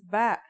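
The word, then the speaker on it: ب: in this lesson don't our first letter of this lesson is ba and yeah it makes a b sound you can remember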